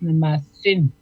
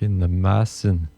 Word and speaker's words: Nemasin: C'est le A qui se prononce, qui s'allonge. Nemasin. OK, Nemasin.